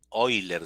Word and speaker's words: Euler: cuerpo Celeste cuerpos vibrantes Euler oiler se pronuncia y por ahí sale